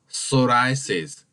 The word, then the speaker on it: psoriasis: to get completely healed psoriasis pronounced or in a little bit differently the pronunciation is called psoriasis the P this word remains silenced here it's like in the psychology which he starts from